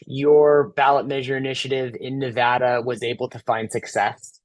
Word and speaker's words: Nevada: And I have to say, perfect pronunciation of Nevada, so I appreciate that. It's a thing here. Don't say Nevada when you're on a Zoom with the people from Nevada, because they'll get all at you.